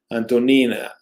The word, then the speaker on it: Antonin: Antonin, yeah. I don't know why they don't translate Anthony, but that's they keep many of these translations. They keep the Russian approach and pronunciation.